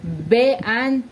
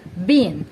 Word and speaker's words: been: We don't say be-an or be-an. We say been because the second vowel is silent while the first vowel is pronounced using the long variation.